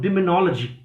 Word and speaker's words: demon: This work can be asked क्योंकि इसमें the writer has attacked on डिमोनोलॉजी। डीमन एक word लिखिए, DEMON, इसका प्रोनाउंसिएशन है डीमन।